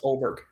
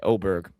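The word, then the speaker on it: Åberg: I'm uh picking Ludvig Aberg, the Swede, plus 1700. Um It's pronounced Oberg. Sorry, Oberg. My bad.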